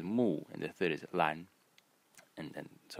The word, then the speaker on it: 蘭: so this is Moo Mo and this is the small size that I'm writing uh um over the syllables are the tones for those of you